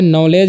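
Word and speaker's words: knowledge: भी व साइलेंट है उसी तरह से नॉलेज है तो यहां पर नॉलेज मिस क्या होता है ज्ञान होता है यहां पर क्या साइलेंट है के साइलेंट है ठीक उसी तरह से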